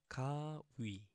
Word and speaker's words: 가위: The first one, 가위, 가 and 위. As we said, as I've said, the the circle one, the has no sound, so just 위 itself, 가위, 가위, and this means scissors.